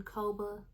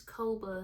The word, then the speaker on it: Kobo: Top Romance Reads in Kobo Plus. It's either, I believe it's Kobo. Let me get it. Kobo is what I've heard a lot of people say is how they pronounce it, so that's what I'm gonna do.